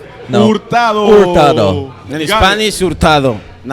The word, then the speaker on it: Hurtado: We're gonna get you to say Hurtado. No. Hurtado. Hurtado. In Spanish, Hurtado. In American, Hurtado. Yeah. Hurtado Or Hurtado. you don't really pronounce the H.